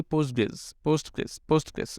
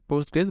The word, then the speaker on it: PostgreSQL: Post SQL normally আমরা উচ্চারণ করি পোস্টগ্রেস এভাবেই আমরা উচ্চারণটা করি। ওকে, পোস্টগ্রেস, বাট এখানে কিউএলটা সাইলেন্ট অবস্থা থাকে।